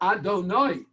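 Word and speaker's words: אדוני: We pronounce it Adonai, but really it's not written that way.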